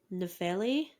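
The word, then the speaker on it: Nephelle: the story of um nefeli I think is how you pronounce it yo yeah and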